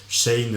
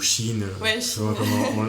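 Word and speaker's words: Shein: avec Nike Zara même Shane ou Chine on prononce depuis ces dernières années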